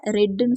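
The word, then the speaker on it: read: இப்போ படித்தா அப்படிங்கிறப்ப ரீடோட பாஸ்ட் டென்ஸை ரெட்டுன்னு சொல்லுவோம். ரெட் ரெண்டுக்குமே ஒரே ஸ்பெல்லிங் தான், ஆனால் ப்ரொனவுன்ஸ் பண்ணுறது ரெட்னு ப்ரொனவுன்ஸ் பண்ணணும்.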